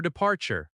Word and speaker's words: departure: flight is ready for departure." In natural speech, flight is ready often links and sounds like flight is ready. "The flight's ready for departure." The word departure has stress on the second syllable.